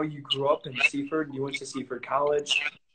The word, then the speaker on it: Seaford: The official pronunciation is Seaford. Seaford. If it's very proper, then you say Seaford, but everyone says Seaford.